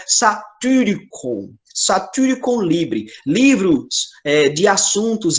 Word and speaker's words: Satyricon: Lembrando que esse Y é o Y grego, então tem que fazer biquinho para pronunciar. Então, é satyricon.